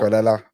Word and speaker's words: Cucurella: Cucurella. Now, Cucurella's all right. Yeah. Rhymes with Estrella. Eats paella.